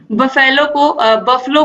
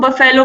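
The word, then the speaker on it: buffalo: तरीके से होना चाहिए, जैसे हम बफलो को हम बफेलो पढ़ते हैं, ठीक है, तो इस तरीके से उसका उच्चारण बफलो होता है, लेकिन मैक्सिमम लोग क्या बोलते हैं, बफेलो ही बोलते हैं।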